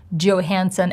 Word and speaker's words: Johansson: And I think it's very important to know how the actor himself or herself pronounces her name. And she does Johansson, as we can see. And I'm Scarlett Johansson.